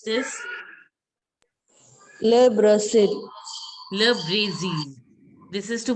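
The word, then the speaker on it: le Brésil: Le Brazil. Very good. Le Brazil. Zeal. This I is to be pronounced as E. So it will be Le Brazil.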